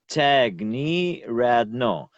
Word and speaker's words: Tiagniryadno: explain to you but tag like someone knee yeah me like like your knee on your leg and rad no I don't know the the same words but tag knee rad no yes you